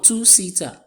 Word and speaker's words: two-seater: The next one, two-seater. Two-seater. The second word. And on the first syllable, we have our stressed syllable there.